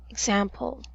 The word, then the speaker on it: example: not example but X you have to emphasize X okay okay example so there again again